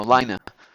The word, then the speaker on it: Lina: hey Lena L yeah Lena Lena is how you pronounce it no Lina her name is Lina he go hey Lina